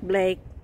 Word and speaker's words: Blake: Is it Is it Blake or is it Yes, Blake.